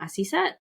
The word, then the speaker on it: Asisat: Asisat?